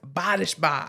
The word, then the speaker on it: Bodishbaugh: mean all episodes are special I got Alex bodishba I never know if I say your name